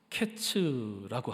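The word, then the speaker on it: קֵץ: 여름 과일은 카이츠라고 하고요, 끝은 케츠라고 합니다.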